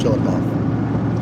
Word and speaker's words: Chillicothe: Yeah, I don't think it's coffee. I think it's Chillicothe. I was going with Coof. After 1.5 Could- could be. Chillicothe sounds more like it. Chillicothe, It Chillicothe. flows. Chillicothe doesn't.